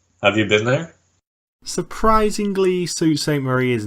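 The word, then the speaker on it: Sault Ste. Marie: zoo the zoo yep it's a place called sue st. Marie which literally no one has heard of the only thing I know about sue st. Marie is that it's not pronounced Saul st.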